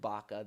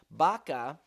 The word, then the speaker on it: Baca: Baca, okay, so when you spell Baca in Hebrew, as it's spelled here, it's Beit, and then a Kaf, like a K sound, and then it ends with an Aleph, which is an Aleph. We think of it as an A, but it's a silent letter.